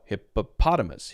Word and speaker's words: hippopotamus: unstressed short I sound or schwam okay so hippopotamus hippopotamus hippopotamus hippopotamus hippopotamus hippopotamus hippopotamus now the